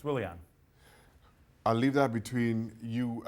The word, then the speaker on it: Willian: That's a W. It's Willian.